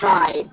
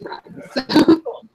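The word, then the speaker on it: Rhy: It says, her Twitter bio says it's pronounced Rye like why. W-H-Y. So it's Rye. And the audiobook says Rye.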